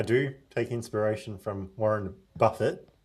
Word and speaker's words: Buffett: Did you ever take inspiration from Warren Buffett on your investing? I do take inspiration from Warren Buffett, not Buffet.